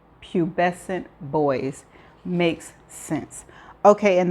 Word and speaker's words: pubescent: the definition of or knew how to pronounce is spelled p u b e s ce n t. And this is how it is pronounced. Pubescent.